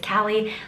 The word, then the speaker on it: Callie: time here what's up my name is Callie like California the state butts about totally different